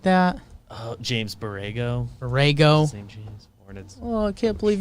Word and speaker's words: Borrego: not in one right it's their coach's name barrago or something like that oh james borrego orego oh i can't believe you're pronounced that wrong jake james got it wow